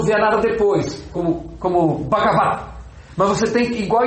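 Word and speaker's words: Bhagavat: Então você pode falar v, é a única exceção que uma sílaba acaba com uma consoante, é no fim, posição final absoluta e mas ainda você tem você tem que pronunciar brava. Ó, você articulou, mas não sonorizou. Bagava. Bagavat.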